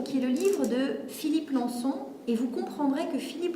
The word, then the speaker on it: Lançon: je vais vous dire deux mots sur philippe lançon c'est parce qu'il me semble que c'est important que vous sachiez donc philippe consent son nom s'écrit lan cédille oen philippe lançon donc philippe lançon et 1 et 1 est un journaliste c'est